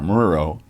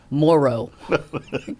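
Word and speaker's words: Murrow: I mean, of all the people with the possible exception of Edward Ar Muro. Yeah. Who people I heard called Edward Ar Morrow or Maro. I'm like, no.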